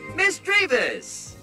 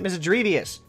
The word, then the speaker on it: Misdreavus: the many people who put the extra I in mischievous misdreavus I can't stop calling it mystery Deus apparently I need to